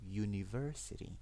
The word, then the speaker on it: university: I put Sorry, the sound is yuh. You you university university.